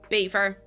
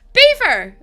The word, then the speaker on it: Belvoir: Beaver. No, no, no, no, no. You You did hear that, right? Beaver. I don't get it. No, no, no. Beaver as in like the animals.